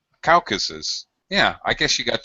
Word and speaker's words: Caucasus: The mispronunciation is people pronounce it as a Caucasus. They use the is. That's the mispronunciation. You guys are actually saying it. You actually saying it right. Caucasus. Sus. Caucasus. Not sis, but sus.